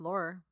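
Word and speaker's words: Laurer: born John Joan Marie Laure in Roger York no flower I heard it pronounced Laura okay maybe that's how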